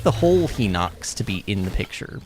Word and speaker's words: Hinox: Oh, God, there's a Hinox. I think you're supposed to say Hinox, but no. It ain't no He-Man, okay? It's spelled with an H-I, it's He. It's He, not He.